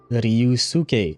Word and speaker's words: Ryu: Yes, it is Ryu. So, you do pronounce the the U in there, huh? I'm 99% sure I've heard it without the U being pronounced in uh in anime.